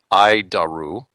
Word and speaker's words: ADIRU: data initial reference unit we pronounce it id daru id daru it's a